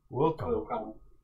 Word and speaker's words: Wilcom: Welcome. Wilcom. Like intercom.